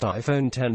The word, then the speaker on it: iPhone X: iPhone design were remarkable the iPhone X pronounced iPhone 10 has an edge at